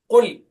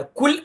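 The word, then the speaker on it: قل: ഖുൽ ഖാഫ് ആണ്, കാഫ് അല്ല. കുൽ അല്ല, ഖുൽ ഖ ഖ. ഖുൽ ഖാഫ് ഖ ഖി ഖു ലെ ഖുൽ.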